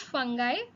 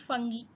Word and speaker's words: fungi: We will pronounce it as fungi. It is the American pronunciation of this word. You will also find many people pronouncing them as fungi.